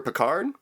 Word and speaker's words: Pickard: I kind of wanted to talk about your friend Leonard Pickard. Is that how you say his name, or Pickard? Like the captain, yeah.